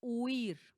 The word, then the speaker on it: huir: Tenemos entonces la palabra huir. Ahí están dos vocales. U i. Ya sabemos esas son qué completamente débiles. Ui. Uir. La sílaba tónica recae en la i.